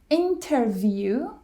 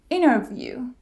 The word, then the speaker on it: interview: syllable is dropped probably interview interview 20 20 now there's a specific pattern happening here when t comes after n we drop the T so it's interview instead of interview or or Center instead